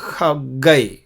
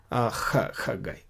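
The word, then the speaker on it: חגי: हग्गई को हग्गई बोला जाता है, हा नहीं, खा नहीं, ख वो खा भी नहीं, लेकिन इस बीच में आता है खग्गई।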